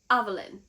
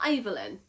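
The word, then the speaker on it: Aveyard: It's Avelin, not Evelyn.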